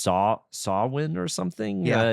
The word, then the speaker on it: Samhain: It looks like Samhain, but I think it's pronounced Samhain or something.